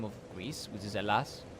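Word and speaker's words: Ελλάς: like the actual name of Greece, which is alas, not Greece. It's alas, are the Chinese people that call us, and again, my pronunciation is probably bad, but they call us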